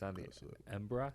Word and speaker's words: Embarras: makes it really nice it's on the ocean embra spelled embarrass River but uh so it makes